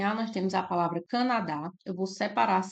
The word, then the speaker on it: Canadá: nós temos a palavra Canadá eu vou separar as sílabas e destacar a sílaba mais forte então Canadá a sílaba mais forte é o dá nós temos aqui uma